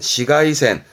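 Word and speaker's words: 紫外線: 그렇지, 이게 자외선, 발음은 시가이센, 음으로는 시가요. 시가이센, 시가이센, 이거면 돼요.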